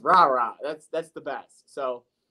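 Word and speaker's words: Rara: good ball he likes rah-rah Thomas and I love saying that name every time I see it Robert Thomas number one receiver Mississippi State come on now his name is r-a-r-a it's just rah-rah that's that's the best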